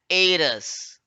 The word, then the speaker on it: heiress: An heiress. Here I'm not pronouncing the letter H. Pronunciation starts from A, not from H.